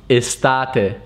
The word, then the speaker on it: estate: means a large property in italian is actually pronounced estate estate and it means summer the translation of